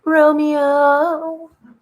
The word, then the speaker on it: Romeo: you to Romeo, who, does anybody know the Billy Ray Cyrus, Dolly Parton song, Romeo? Anybody? Because that's how I say his name. When I call him, I say, Romeo.